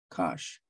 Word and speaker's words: cosh: is sinh is cinch and the way you pronounce the hyperbolic cosine is Kash so if you put